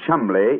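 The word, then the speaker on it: Cholmondeley: Being an American, he had no reason to know that the name Chumley is in no way pronounced the way it is spelt.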